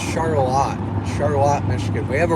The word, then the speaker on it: Charlotte: It looks like Charlotte. It's actually pronounced Charlotte.